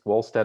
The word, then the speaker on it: Wohlstetter: So Wohlstetter, I don't know, it's a German name if you pronounce it with a German pronunciation, or if it's Wohlstetter or Wohlstetter.